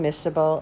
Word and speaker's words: miscible: one final vocabulary term miserable and immiscible that C is silent when you pronounce it so miserable and